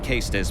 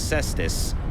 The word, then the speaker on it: Caestus: Caestus, if you're going for proper Latin pronunciation of Caestus, but in English it technically is Cestus. But the standard English spelling is Cestus, so it makes more sense.